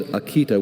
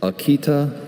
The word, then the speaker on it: Akita: Kiko's Akita was fiercely loyal, following her around everywhere like a silent bodyguard. Can you repeat the pronunciations? Akita.